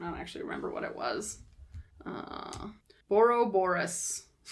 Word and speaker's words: Borborygmos: Borborygmos. There's just a few more syllables in there.